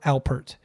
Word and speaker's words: Alpert: hurt Albert's help hurt it's like Jim Halpert Herb Alpert it's hard to say